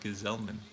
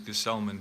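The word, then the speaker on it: Gsellman: going to be Robert ghazal Minh they don't pronounce his name right his name is Gus Ullman but so be it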